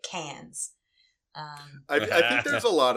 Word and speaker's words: Cairns: But anyway, so we went to Cairns, Australia, which I learned it's written Cairns, but you say it Cans.